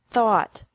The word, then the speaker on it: thought: This can be spelled O-U-G-H-T or A-U-G-H-T, but the pronunciation is the same. Bring, brought, brought. Buy, bought, bought. Catch, caught, caught. Fight, fought, fought. Seek, sought, sought. Teach, taught, taught. Think, thought, thought. Remember that the G is silent in these verbs.